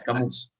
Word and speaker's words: Camus: Bueno, Camus, creo que es Camus porque es francés. Era un filósofo francés, entonces como los franceses son raros, usualmente las últimas eh, palabras, las últimas letras no se pronuncian, entonces como que Camus.